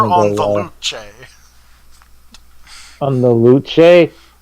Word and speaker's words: Luce: On the Luce? It's spelled like loose but with a C, so I'm going to pronounce it like it's Latin.